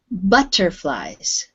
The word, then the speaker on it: butterflies: Now that word, with English, the U is pronounced butterflies. Butterfly. Yes. I know in Spanish you have a U sound, like pub. We say pub, you say pub. We say butterflies.